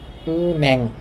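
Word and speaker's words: 은행: নিয়মটা সম্ভবত আমি বলছিলাম, তো এটাকে আপনি এভাবেও বলতে পারেন উন্যাং, দুইভাবে বলা যায় উনহ্যাং বা উন্যাং।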